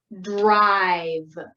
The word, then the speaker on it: drive: out a little bit so remember when there's an r blend you tap out both of those sounds d and r then i and v and e is silent so there's no sound so let's tap out